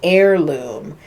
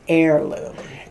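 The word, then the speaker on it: Ayrloom: It's called Heirloom. And it's spelled A Y R L O O M. Heirloom.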